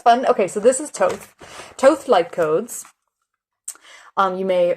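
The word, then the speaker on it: Thoth: Pronounced Toth, also known as Tahuti, is an ancient Egyptian ibis-headed god of writing, divine magic, and the moon.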